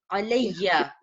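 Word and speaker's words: عَلَيَّ: So when two ya becomes together, we pronounce with shadda. Alayya, it means on me.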